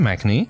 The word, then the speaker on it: Machnee: Today we're going to be talking with Jonathan Machnee. I think I pronounced that correct.